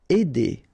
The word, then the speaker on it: aider: Aider, all right, combination of A and E together will produce the sound aider.